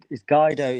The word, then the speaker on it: Guido: Yeah, it's Guido. The name's pronounced Guido. But yeah, I think in the States and in Canada they may pronounce it Guido. I'm not sure.